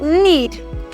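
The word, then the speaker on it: knead: Next up, I have need. Need. For my need, I have these. Now, when you're pronouncing the word, you're not saying lead. Just lead. N-E-L-K-N-E-A-D. Now, my K is what? Absent and not pronounced.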